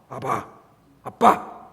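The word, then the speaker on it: אבא: 아람어로 바꾸고 예수님이 이제 사용하시는 언어가 아람어인데 아람어로는 우리랑 똑같아요. 아버지를 부르는 발음이. 아빠, 아빠.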